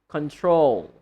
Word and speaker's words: control: They can be a noun or a verb, but the stress is on the second syllable. For example, the first one, control.